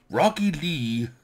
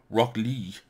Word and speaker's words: Rock Lee: Oh, where the fuck has I heard, have I heard the, it's not Rocky Lee as it's spelled here. I see it as Rocky L-E-E. Rock Lee.